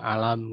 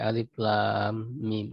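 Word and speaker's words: الم: Tidak alam gitu, tapi alif lam mim. Alif itu nama huruf ya, lam nama huruf, mim nama huruf.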